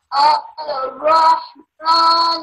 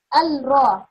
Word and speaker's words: الرحمن: Ar-Rahman Ar-Rahim. Okay, that's right. I told you that we can't pronounce the three letters. So we have to not say Al-Ra. Al-Ra is wrong.